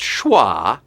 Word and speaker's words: schwa: Pronounced schwa.